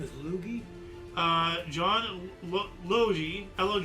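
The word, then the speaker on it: Logie: So one century ago 1926, John Lugie Beard gave the first public demonstration of television is his laboratory in London. His name is Lugie.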